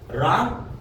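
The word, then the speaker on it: wrong: जैसे कि वहां पर राइट राइट देखो डब्ल्यू के बाद में आ रहा है राइट रॉन्ग रीस्ट अगर किसी स्पेलिंग की शुरुआत डब्ल्यू एच ओ से होती है तो वहां पर सामान्यतः डब्ल्यू साइलेंट होता है।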